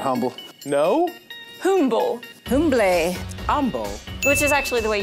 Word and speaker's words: Humble: humble no humble humble humble which is actually the way you pronounce that word of course it's silent h that makes total sense okay so the trick